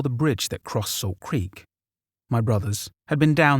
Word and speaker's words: Creek: if you live in central Illinois that is pronounced Creek not Creek at that time we lived out in the